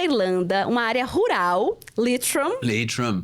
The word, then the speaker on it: Leitrim: Leitrim. Pronunciei Isso aí, certo.